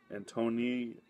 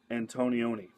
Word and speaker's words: Antonioni: it's a film by Michelangelo Anton Antony I'm butchering his name antonioni there we go Michelangelo antonioni um this